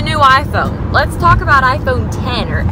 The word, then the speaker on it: iPhone X: Let's talk about iPhone 10 or X or whatever. I think it's pronounced 10. I know that, but every time I read iPhone X, not iPhone 10.